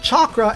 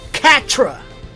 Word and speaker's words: chakra: first televised on tv naruto mispronounced chakra as katra now if that was